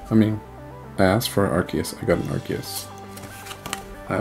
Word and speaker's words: Arceus: an Arceus okay I'm pronouncing it right right it's Arceus thank you Arceus yep it is not Arceus here we go